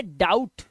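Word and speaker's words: doubt: आया तो इसे पढ़ेंगे डाउट डाउट और इसका बी साइलेंट रहता है ध्यान रखना डाउट इसे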